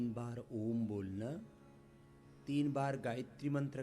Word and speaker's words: ओम: ओम ऐसे। ओ को करीब 10 से 15 सेकंड और मैं को पांच से सात सेकंड में ऐसे यह सही प्रोनाउंसिएशन है।